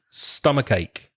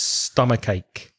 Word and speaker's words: stomachache: s stomach its stomach stomachache and again the hard consonant at the end of stomach joins and linked cents in Luffy with the vowel at the beginning of ache so it's stomachache stomachache there should be a